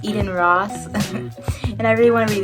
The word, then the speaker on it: Eden Ross: I said her name wrong in my last book video, but it's Eden Ross.